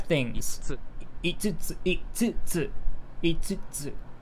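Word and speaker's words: 五つ: 5つ Itsutsu, itsutsu, itsutsu. It's pronounced itsutsu, not so the kanji here usually it's pronounced go for 5, but here for this it's itsutsu.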